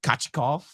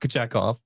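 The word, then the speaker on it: Kochetkov: And then we'll see Kachikov, hopefully, on Tuesday, not Kachekov. Our rule is when he's feeling it, he's Kachikov, the Don Waddell pronunciation. And when he's not very good, he's Kachekov.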